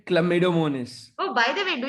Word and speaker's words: Chlamydomonas: Um, it's pronounced as chlamydomonas. Wait. I have a video. Wait. on this channel. Well, Ma'am, right can you hear now you will it? see how pronounce this word. The word you see is sounds like chlamydomonas. Chlamydomonas. Chlamydomonas. it's chlamydomonas. I will repeat it more slower.